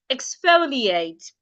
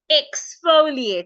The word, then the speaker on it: exfoliate: do we call it the right pronunciation of this word is exfoliate exfoliate now look at the word exfoliate again remember you can only pronounce the e as e if you're stressing it